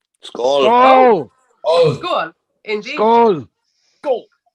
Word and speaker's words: Skål: Skull. Skull. Skål!